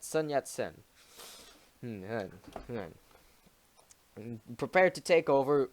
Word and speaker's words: Sun Yat-sen: his name we wanted to call him a SAT sun yat-sen mm-hmm prepared to take over with a revolutionary